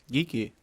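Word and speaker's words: Geek-E: from now on uh they'll be off of geeky yeah of course and that's spelled uh g-e-e-k Dash e get it geeky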